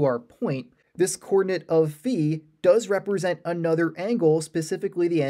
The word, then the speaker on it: phi: Now, some people will pronounce it phi, but I prefer to say phi. That's just the way that I was originally taught to say it, so that's how I'm